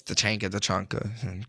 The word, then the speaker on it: Tachanka: I know it's Tachanka. Great. I love to hear the official pronunciation, but yeah, or the pronunciations of all the operators around the world.